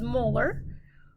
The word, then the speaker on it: molar: this one would be capital m which we pronounce as molar or moles per liter